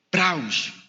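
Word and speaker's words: πραΰς: que están tomando nota PR a u con tilde s prauss y esa palabra praos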